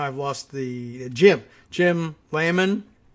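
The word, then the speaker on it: Lamon: lost the gym jim lehmann i guess i'm i'm gonna go with that pronunciation l-a-m-o-n plan to use his two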